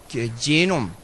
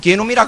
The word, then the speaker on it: 게놈: 이 사람은 누구나 다 제놈, 한국에서는 게놈이라 그러더라고요. 발음을 잘못하면 또 게놈이라고 말이 되니까.